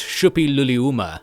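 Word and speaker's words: Suppiluliuma: I think the S is pronounced like a sh, so it's Shupiluliuma, something like that.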